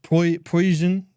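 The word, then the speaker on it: Preussen: So poison. Po poison. It's S, not zed.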